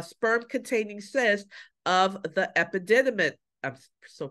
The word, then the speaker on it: epididymis: a firm uh sperm containing cysts of the epididymis I'm still pronouncing that wrong epididymitis no epididymis you see the word guys you